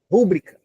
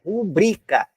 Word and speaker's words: rubrica: falar muito r r rúbrica rúbrica tá errado a sílaba tônica não é o ru não é rubrica a sílaba tônica é o bri então a a pronúncia correta é rubrica rubrica Então quando você